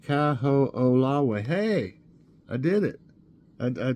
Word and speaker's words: Kaho'olawe: Kaho'olawe, pronounced Kaho'olawe.